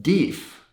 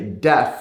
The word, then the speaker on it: deaf: of my friends and one of my swedish friends said deef like he was dief and i was like okay deep well i was trying to figure out i mean from the context of the conversation i knew that he was just trying to say deaf like hard of hearing